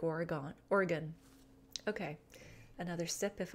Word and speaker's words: Oregon: I keep saying Oregon. I have been corrected in Sunday Sipper Clubs past. Oregon. They know you're not from Oregon if you say it like Oregon.